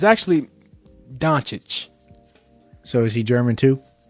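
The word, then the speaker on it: Dončić: Yeah, I just watched some of Luka how you pronounce his name? Doncic. Doncic. I've been saying Doncic. It's actually Doncic.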